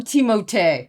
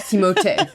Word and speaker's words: Timothée: I call him Timothée, okay? He's French. Timothée. Can we just pronounce his name in the French way? Timothée Chalamet.